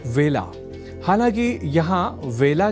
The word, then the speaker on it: वेला: अर्थात इसे बेला नहीं बोला जाना चाहिए।